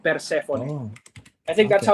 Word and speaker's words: Persephone: So it's like Persephone. Oh, I think that's okay. how they pronounce it because they're like a Andorran band, so kind of like Spanish guys making Cool.